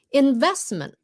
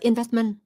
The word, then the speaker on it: investment: Investment, chứ không phải là investment.